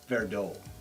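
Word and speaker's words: Verdot: malbec and petite what does your wife say verdo she does know very dot she says right yes you know how to pronounce it properly so this is good and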